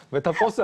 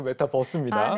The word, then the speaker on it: 메타버스: 아재분들이 많이 메타버스라고 읽더라고요. 버스가 아닌데. 제가 아재인가요? 메타버스 아니고 메타버스입니다. 네, 메타버스.